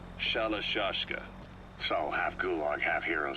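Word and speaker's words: Shalashaska: somewhere along the line, Shashka got stuck on the end of Sharashka. The guerrillas were using the name amongst themselves, and by the time I got to hearing about it, the pronunciation had wound up as Shalashashka.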